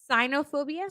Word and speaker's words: cynophobia: cynophobia what is it cynophobia spell it c y n o phobia sign cyanophobia I would have never guessed that Sino would be it's blue